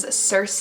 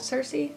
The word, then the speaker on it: Circe: The next book that I have is Circe. I'm pretty sure you say it like that, Circe.